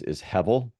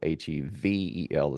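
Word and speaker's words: הֶבֶל: So the word that's translated here as vanity is hevel, which you would write in English as Hebel. The B is often pronounced as a V, so Hevel is kind of the way that it sounds, hevel.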